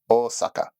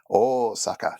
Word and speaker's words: Osaka: English tend to call Osaka is more accurately pronounced Osaka and the O is twice as long as the two A's are so that in a haiku would count for four oh Saka even though it is